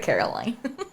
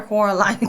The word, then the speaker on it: Coraline: Twilight there's Coraline too she said Caroline car car is it Caroline or Coraline Coraline Coraline there's this Caroline there's like these three ladies um but they pronounce her name like that they say oh Caroline carine Caroline Caroline her name's Coraline I'll have to watch